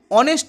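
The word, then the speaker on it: honest: উচ্চারণ হচ্ছে কিন্তু অ্যান অনেস্ট ম্যান এই যে এইচ ও এন ই এস টি অনেস্ট এটা কিন্তু ও এর মত উচ্চারণ হচ্ছে কিন্তু রয়েছে কি এইচ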